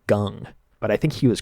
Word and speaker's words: Kang: there used to be a baseball player called Jung-Ho Gung, and it was spelled like Kang, like that. It was pronounced Gung.